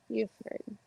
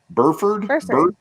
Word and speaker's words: Burford: Buford. Is that right? Buford? Because then the R is silent?